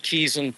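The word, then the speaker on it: Quezon: Um, this is Keeson Park. It's spelled like Queeson, but Keeson Park.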